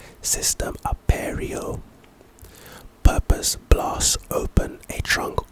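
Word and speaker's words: Cistem Aperio: It's pronounced System Aperio. System Aperio.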